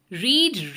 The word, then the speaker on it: read: Read, read, read. Read V1 form है, V2 form है read और V3 फॉर्म है read. इसमें स्पेलिंग तीनों में सेम है, बस क्या चेंज हो गया है वर्ब के फॉर्म्स में, प्रोनाउंसिएशन चेंज हो गया है.